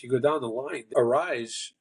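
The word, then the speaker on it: Arraez: go down the line arise is that that's how they pronounce it Luis arise AR arise arise arise is is a is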